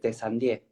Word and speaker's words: Teyssandier: Sí, creo que se dice Tessandier, es francés.